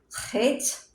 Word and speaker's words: Chet: Chet. It rhymes. See, my book doesn't say that. It says it rhymes with let, but it's not spelled that way.